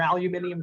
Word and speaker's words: aluminium: around and I see people pushing aluminum or aluminium strollers, depending on how you say it, all